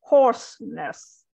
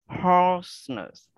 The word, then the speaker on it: hoarseness: So hoarseness. Hoarseness. Yep, so it's OA, so it's a little bit longer, and then there's the R in there, so hoarseness.